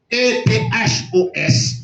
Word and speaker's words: ethos: E-T-H-O-S, il prononce ethos.